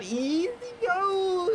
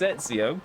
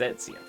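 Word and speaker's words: Ezio: It's just No, it's Etsio. No, no, you you've never played Assassin's Creed. And you can tell who's played Assassin's Creed because they usually are able to pronounce it properly. It's Etsio.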